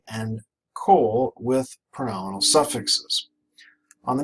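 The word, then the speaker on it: כֹּל: of or the whole again pronounced Cole this is a comet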